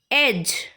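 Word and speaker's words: edge: किनारा, एज, एज, इसमें D silent होता है।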